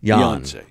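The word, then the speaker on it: Beyoncé: Beyonce Beyonce Beyonce Beyonce the accent is on Yan Beyonce than you um okay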